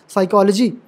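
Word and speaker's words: psychology: ठीक है अच्छा कभी-कभी जब पी के बाद एस आएगा तो हमेशा पी जो होता है साइलेंट रहता है ठीक है पी के बाद एस आएगा तो पी साइलेंट रहेगा जैसे for example साइकोलॉजी pseudo P starting में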